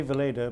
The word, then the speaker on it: Weleda: out with your problem you say Vala but most people know it as V at least in Britain and America in in the UK it's it's w it's spelled with a W but it is a Germanic name so w becomes V what is special about